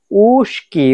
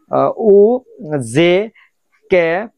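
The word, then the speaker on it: узкий: উ, জে, কে, ই, ইগরাতকা, উস্কি। আসলে উচ্চারণটা হওয়ার কথা ছিল কিন্তু উজকি, উজকি, বাট উচ্চারণটা হয়েছে উস্কি।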